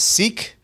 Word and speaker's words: Sikh: American cimron is a sick you may have heard it pronounced as seek or sikki is another